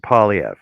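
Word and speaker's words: Poilievre: Pronounce it Polyev.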